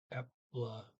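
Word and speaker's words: eple: Okay, we have pudding and and see, when they say pie, they say epla, epla, epla pie. Okay, pie sounds just like pie. Epla pie, E-P-L-E, epla.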